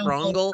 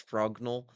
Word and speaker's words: Frognal: I was going to say Frogal. I was going to say Frogal and that would have sounded more sexual, but like it's Frognull Frenchly and Frognull.